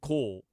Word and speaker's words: Kohl: It's spelled Kohl. Oh. Ooh. That changes everything. Yeah. That's actually Jewish. J.J. Cole. Cole, Kohl is a Jewish last name.